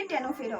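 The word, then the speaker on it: Ctenophora: तो देखो यहां पर देखो सिलेंट्रेटा में यहां पर ओ साइलेंट रहता है और टेनोफेरा में यहां पर सी साइलेंट रहता है। ठीक है? तो इसको क्या पढ़ते हैं? यहां पर ओ साइलेंट रहता है। तो सिलेंट्रेटा एंड यहां पर सी साइलेंट रहता है। तो ये टेनोफेरा होता है।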